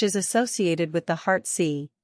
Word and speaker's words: Si: associated with the heart C pronounced like Sir with a slow exhale